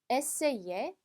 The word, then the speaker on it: essayer: 자, 여기 보면 여기 이그가 있어요. 원래 얘가 단어 안에 들어가면 그냥 이 발음 난다 라고 했었는데요. 여기는 에세이 앞에 아가 붙었기 때문에 에이에처럼 발음해 주시면 돼요. 그래서 에세이에 이렇게 발음해 주시면 되겠습니다.